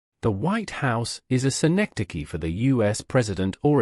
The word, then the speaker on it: synecdoche: Here, the White House is a synecdoche for the U.S. President or administration. For syllables make up the pronunciation of synecdoche. C. Neck. Da. Key.